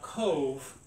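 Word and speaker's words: Cobh: code overlooking cork Harbor now Cove is spelled c-o-b-h yeah um just so just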